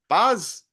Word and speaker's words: paz: Paz.